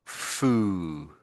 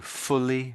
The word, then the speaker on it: fully: I can hear a little bit slightly like fooly. I'm a little bit of that. So fully and fooly.